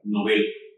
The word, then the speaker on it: Nobel: Está mal pronunciada la palabra. Todo el mundo dice premio Nobel, no es premio Nobel porque la palabra no tiene tilde o acento gráfico en la o y como no tiene acento gráfico, se tiene que que pronunciar novel. Y si alguien duda de lo que digo, ahí está el diccionario Juan hispánico de dudas de las academias de la lengua, que dice que la pronunciación debe ser Nobel.